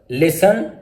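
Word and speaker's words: listen: T silent, T इज not pronounced in these common words. मंदरजा जो words हैं इनमें T silent है। Castle, फासन, लिसन, often, थिसल, विसल।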